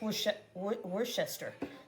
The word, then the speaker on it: Worcestershire: Somebody said it's wor. I don't know if that's true. Worcester. I don't think so. I think it's worester. There you go. I said it right.